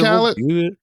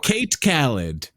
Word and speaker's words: Khaled: DJ Khaled? Oh, I thought you said DJ K Khaled. And I was like, that's a funny way to pronounce his name. DJ Kate Khaled.